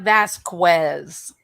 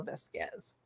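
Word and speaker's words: Vásquez: camille oh very good camille vasquez not vasquez i know e lane says vasquez but that's not how you pronounce it it's camille vesquez i know who you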